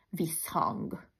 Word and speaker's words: visszhang: és egy rövid mássalhangzó például visszhang kettő darab esz 1 h és kiejtésben csak egyeszt ejtesz ezért rövidül tehát rövidülni csak azt